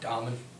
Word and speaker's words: Dahlman: Frank, and I'm sorry, how do you say it? Dahlman.